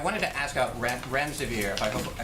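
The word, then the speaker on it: remdesivir: so much I wanted to ask out rec ramza vir pronounce that correctly can you tell say is it currently approved for use on the virus so REM des vir and it's a drug made by Gilead that's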